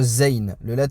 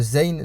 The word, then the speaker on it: ز: Donc le zayn se prononce z. Donc le z en arabe, ça sera comme un z, on va dire, en français.